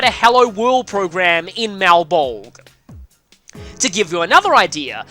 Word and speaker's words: Malebolge: Malebolge, I think is how you would pronounce this.